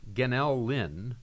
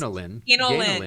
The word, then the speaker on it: Ganel-Lyn: name, and it's pronounced Ganel-Lyn. No, it's pronounced Ganel-Lyn. Yeah. Ganel-Lyn.